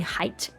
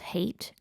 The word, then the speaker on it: Hayt: They plan to infiltrate Arrakina, Araki's capital, Paul's palace, offering Hayt the Gola. Okay, so it's actually pronounced hate, I think.